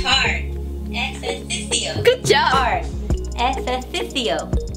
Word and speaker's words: ejercicio: Ejercicio. Ejercicio. That's hard. Ejercicio. Good job. Hard. Ejercicio. You still have to put your tongue up there.